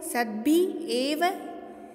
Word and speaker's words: सद्भिरेव: इसको यदि मैं संयुक्त करके पढ़ती हूँ तो सद्भिरेव। यदि मुझे द में भ मिला हुआ है और रेव एक साथ उच्चारण करने में कठिनाई आती है, तो सद्भिरेव शब्द सद्भि प्लस एव से मिलकर बना है, तो हम इसको इस तरह से भी उच्चारित कर सकते हैं, सद्भि एव सहासीत।